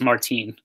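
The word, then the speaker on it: Martín Maldonado: wrong I've been although sorry no it's Martine I'm the 14 melded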